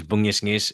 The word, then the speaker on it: bungisngis: So the pronunciation is bungisngis, and that's actually a Filipino word.